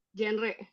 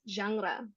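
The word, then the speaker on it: genre: Siapa dari kalian yang membacanya Jenre atau jengre ini? Alright. So, dibacanya adalah jangra seperti agak Perancis gitu ya, jangra.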